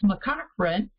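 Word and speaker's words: McCaughrean: than before knowing what that was so it's mccochran and this was suggested by we believe a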